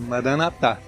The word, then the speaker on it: Maranatá: Maranatá. É essa a pronúncia, será? Isso, Maranatá.